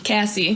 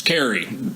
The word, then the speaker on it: Carrie: principal's office and he's calling her Casey Cassie Cassie right right it's Carrie it's almost like Django like